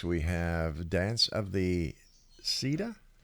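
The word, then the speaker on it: Sidhe: We have Dance of the Sita. She, yeah, it's a Celtic word. Ergo, it's not spelled like it sounds, but it's the dance of the she, and they're.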